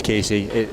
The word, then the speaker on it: Casey: It is Casey. I pronounced it Cassie because I was screwing with her.